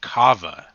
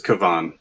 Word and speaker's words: Kavan: apologies if I did. It is Kavan. There's a typo in my notes, so.